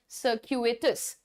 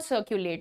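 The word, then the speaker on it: circuitous: its Sarkate सक्यू इटस सरकू एटस ठीक है तो आप हर वर्ड को तोड़ करके फिर प्रोनाउंस करिए that will sound good it इज नॉट सर्कुलेट there is nothing called सर्कुलेट I believe ठीक है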